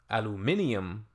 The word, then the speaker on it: aluminium: Well, no, it's just in the UK, they pronounce it aluminium, whereas in the Americas, kind of in the States, for whatever reason, it